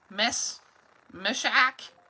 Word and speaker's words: Meshach: But then there's Shadrach, Meshach, Abednego.